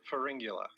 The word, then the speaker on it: Pharyngula: It's Pharyngula.